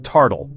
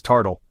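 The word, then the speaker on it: tartle: All right, kicking us off is a word from Scotland and it's called tardle.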